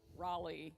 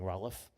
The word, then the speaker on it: Raleigh: We're doing all the You can tell we've traveled because we pronounce the city names correctly. Boisey. Raleigh. Yeah. Uh, up until recently I was saying Rolof.